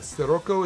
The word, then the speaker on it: Scirocco: Uh Scirocco is pronounced with an S.